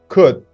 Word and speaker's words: could: well done now everyone the sound L is not pronounced should would could as you can see L is not pronounced L is silence okay you're doing great